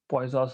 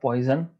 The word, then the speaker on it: Poisson: It is pronounced as Poisson, not poison. It is not poison, it is Poisson.